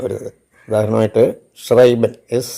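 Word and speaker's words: schreiben: അർത്ഥത്തിൽ ക്രാക്ക് എന്നുള്ള അർത്ഥത്തിലാണ് letters S സി H together it ഹാസ് A sound of Shah for example tribal S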